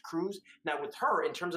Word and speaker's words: Krug: is telling people oh my last name is because it was mistranslated at some craziness like that it's actually cruz it's pronounced cruz now with her in